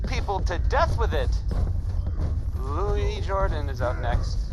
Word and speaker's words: Lewis: Louis Jordan is up next. It's spelled Lewis, but don't be fooled.